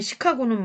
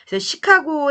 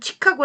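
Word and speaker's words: Chicago: 흔적은 아직도 곳곳에 남아있다 시카고 의 영어식 발음으로 읽으면 치카 고 라고 발음해야 한다 하지만 이 도시의 이름을 정한 사람들이 프랑스 이미 얻기 때문에 그들의 발음대로 지금까지 부르고 있다 그래서 시카고 블레이 뜻은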